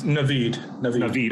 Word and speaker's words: Naveed: you hear me yeah am i pronouncing your name properly it's naveed okay i did it right the first time thank you naveed yeah